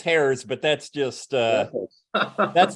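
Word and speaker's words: Hyades: is that nearby or is that pronounced Harry's well no that's that's hairs but that's just uh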